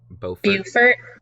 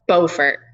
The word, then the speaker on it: Beaufort: Beaufort. Beaufort. I would say Beaufort, but Beaufort. Again, I'm not really a native, so I could be wrong on my Beaufort pronunciation.